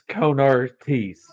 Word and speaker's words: Konar Tees: It's Konar Tees. If you're gonna pronounce it correctly, I would appreciate that.